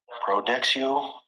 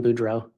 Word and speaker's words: Boudreaux: cards with name of Brandon Prodexio. Pronouncing that wrong. Also a driver's license out of Arizona for Brandon. Coming around more. Detective, you recently testified about finding a large amount of credit cards for Brandon Boudreaux. Yes. I believe there you may have mispronounced his name.